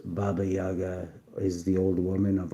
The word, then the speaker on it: Baba Yaga: To the Slavic peoples of Eastern Europe, Baba Yaga, pronounced Baba Yaga, is the old woman of autumn, whose spirit lived in the last kernel of harvested grain.